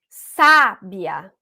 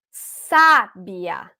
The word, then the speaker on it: sábia: na penúltima sílaba e quando eu coloquei a força na anti penúltima sábia sábia eu tive uma palavra proparo tá então essas classificações